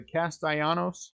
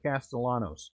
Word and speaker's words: Castellanos: do you say his last name is the castaianos or is it castellanos are the l silent 95 out of 99.